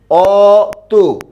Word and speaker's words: অতি: উচ্চারণ করি কি অত অর্থাৎ এখানে ছিল অচ্চারণ হয়েছে কি ও এখানে ছিল অ এর